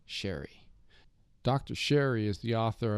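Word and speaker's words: Scerri: In the podcast, I incorrectly pronounced the name of the book's author, Dr. Eric Sherry.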